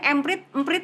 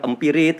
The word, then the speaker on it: Emprit: Jadi coba cara bacanya emprit atau gimana? Emprit ya, kayak orang Jawa itu kan burung sebetulnya nih, burung emprit, emprit. Nah, ada yang salah bilang empirit gitu kan.